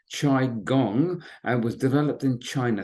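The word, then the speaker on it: qigong: not familiar with it it's pronounced chi gong and was developed in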